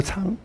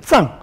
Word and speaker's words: 藏: 普光明，古光明长，我现在把它念成长。其实有时候念成藏，可这两